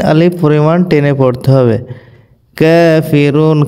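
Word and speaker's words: ٱلْكَافِرُونَ: কাফিরুন, কাফের উপর খাড়া জবর 1 আলিফ পরিমাণ টান হবে এবং রতে 3 আলিফ টান হবে ওয়াকফ হওয়ার কারণে।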